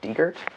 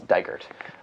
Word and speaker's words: Digret: I I kept reading it as Digger. Um but I'm happy to know that it's Digert.